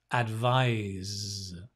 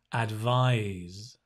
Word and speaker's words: advise: carefully to the pronunciation the verb right is to advise it's a voiced sound z z a bit like the b right z advise advise advise that's the verb right